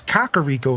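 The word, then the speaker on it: Kakariko: Yeah, Kakaro Village or even Kakar Rico Village. Nah, Zelda said it's Kakar Rico Village and now y'all have to accept it.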